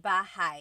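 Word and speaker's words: bahay: with me b b you might notice that the spelling is a y at the end so it looks like bah but it's pronounced bah that ay combination is bah bah now you might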